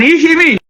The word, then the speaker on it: Ikhivbi: And Ikhivbi, which has over the years been mispronounced as Ihimen to Chime and to Chima over the years, is important because the history ties Oba the first to Iseluku.